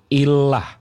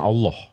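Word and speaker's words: إله: yang enggak bisa baca Illah ini bacanya nih Illah bukan Allah Illah jadi Kristen Arab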